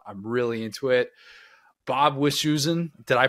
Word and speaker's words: Wischusen: Bob Wischusen, did I pronounce Bob's last name right?